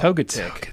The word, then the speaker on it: Togetic: say to toga tick toga tick yeah I'd say toga tick I'd put like the emphasis on the tick part totic totic I don't know